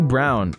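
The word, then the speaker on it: Braun: gotta improve their rookie Brown is um I know it's spelled like it's Brawn but it's brown uh he's actually looks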